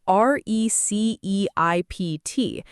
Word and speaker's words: receipt: It's spelled r e c e i p t and people naturally want to say that p sound. But the fix is simple. It's receipt. The p just isn't there.